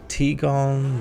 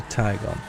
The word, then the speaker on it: Tigon: So, I've heard it called the Tigon, the Tjon, but I think it's neither. I think it's the Taigon.